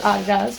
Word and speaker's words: Adidas: Yes, pronounce it Adidas because that's the guy's name.